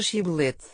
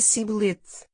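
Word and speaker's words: שִׁבֹּלֶת: Se respondia que não, então mandavam dizer a palavra Shibbolete. Se ele dizia Sibbolete, porque não era capaz de a pronunciar corretamente, pegavam nele e matavam-no.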